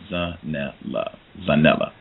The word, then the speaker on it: Zanele: Zanele.